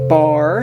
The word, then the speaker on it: barre: the Fret creates what we call a bar and it's spelled b a r r e I know kind of strange but we're not going